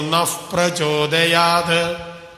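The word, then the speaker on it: നഃ പ്രചോദയാത്: പവർഗാക്ഷരം വരുമ്പോൾ അവിടെ ഏതിന്റെ ഉച്ചാരണം വരണം? എഫിന്റെ ഉച്ചാരണം വരും. അപ്പൊ എങ്ങനെയാ ചൊല്ലേണ്ടത്? നപ്രചോദയാതെന്നല്ല, ദിയോ യോ നഫ് പ്രചോദയാത്.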